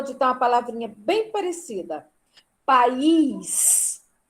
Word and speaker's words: país: País. O meu país é o Brasil? País.